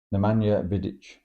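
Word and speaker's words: Nemanja Vidić: the man the viets can't even te neanda Nea vidit is the correct pronunciation um what a defense good don't think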